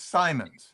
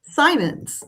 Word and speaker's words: Symonds: Simply to let you know that I say my name's Symonds. Symonds.